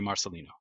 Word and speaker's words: Marcelino: Am I pronouncing that correctly, by the way? you are. And a little bit of backstory IRL. Marcelino is my Filipino grandfather. Rest his soul. Aw. I wanted to make sure I got the pronunciation right. You got it.